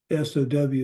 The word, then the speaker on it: sow: S-O-W is pronounced the same as S-O, and it means sowing seeds.